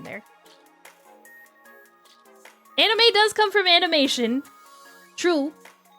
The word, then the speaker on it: anime: sound like weeb, but technically anime is anime. God, I felt awful even saying that. But it's it's it's an a sound.